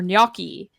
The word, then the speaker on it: gnocchi: these are really fun uh G is for gnocchi The Gnome yells waiter there is a bright